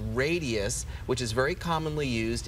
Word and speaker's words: Radiesse: You mentioned this product, Radius, is that how you pronounce it?